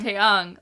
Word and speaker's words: Taeyang: and then you just have Taeyang or I always say his name wrong. Taeyang.